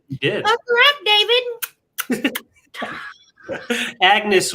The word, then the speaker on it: Agnes: Agnes with a silent G.